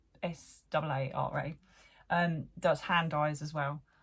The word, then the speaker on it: Saara: It's a late, I believe you still pronounce it Sarah, but it's SAARA.